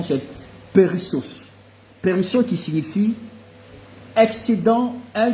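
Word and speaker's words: περισσός: grecque, la racine s'est tirée en disant, la prononciation c'est périssos.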